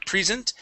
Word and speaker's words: present: almost barely hear it you had said pre instead of pre present present okay just remember um you use that long e when it is a verb okay and you are